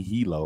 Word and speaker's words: Hilo: his uncle at Hawaii Hilo, right? Or Hilo. Is it Hilo or Hilo? Hilo. I said it right the first time.